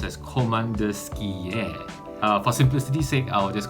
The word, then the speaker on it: Komandirskie: actually i really like coleman dursky it's actually pronounced as commander skier for simplicity's sake i'll just call it komodusky